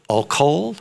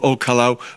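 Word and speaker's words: Ol Kalou: The old house in Olkol, is that how you say it? Well, Olkalau, but Sabukia was the place.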